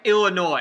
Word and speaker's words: Illinois: I'm talking about Arkansas and Illinois. Why is there an S? Why? There's no reason for it to be there.